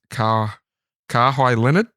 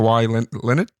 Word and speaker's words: Kawhi Leonard: His name is Kawhi Leonard. Kawhi Leonard. Yeah, or Kawhi. How do you want to pronounce that? Kawhi. Mm-hmm. Kawhi Leonard.